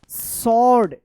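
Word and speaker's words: sword: and found a small सॉर्ड एस डब्ल्यू ओ आर डी सॉर्ड यहां पे W silent है inside तो देखिए यहां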